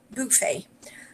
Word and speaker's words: buffet: just kidding okay so the stress is on the first syllable buffet uh in british english